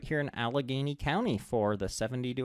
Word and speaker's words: Allegheny: you've done to it, So you pronounced that wrong. It's Allegheny County. County and at You're from Pittsburgh. downtown. It's Allegheny County.